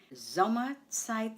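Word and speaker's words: Sommerzeit: First syllable zom m site. The stress is on the first syllable.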